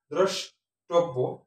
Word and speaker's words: দ্রষ্টব্য: সাথে ওকার হবে ধন্যবাদ দ্রষ্টব্য দ এর সাথে র ফলা আছে কিন্তু কার চিহ্ন নাই প্রথমে যদি র ফলা থাকে সেটা ওকার হয় দ্রষ্টব্য টটা ওকার হয়ে গেছে কারণ হচ্ছে বয়ের সাথে জফলা আছে আর এখানে বের সাথে জফলা থাকার কারণে শেষে এজন্য দুটো ব হয়েছে দ্রষ্টব্য অতীত অত দ্বারা